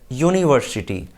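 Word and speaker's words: university: होती है, वाई, यानी उसका उच्चारण किससे हो रहा है, वाई से।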